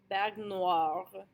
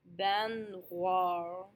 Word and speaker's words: baignoire: So the most common is OI, is pronounced wa.